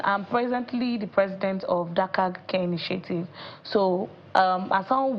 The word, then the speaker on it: Dharkag: I like the way you pronounce it, Dharkag. Sounded like dark age.